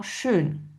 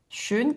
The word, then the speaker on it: schön: Donc c'est-à-dire que notre E se prononce E en allemand, mais pour avoir le son E, en fait, c'est O umlaut. Donc, par exemple, dans schön, schön qui signifie beau.